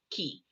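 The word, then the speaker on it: 気: to call it ki some people pronounce it chi but it's actually ki uh but it just depends on where you're from so i study japanese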